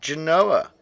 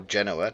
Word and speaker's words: Genoa: There's no way of us getting there, but Turkey's turned rebel, and Genoa or Genoa, depending on how you pronounce it, have taken Tunis.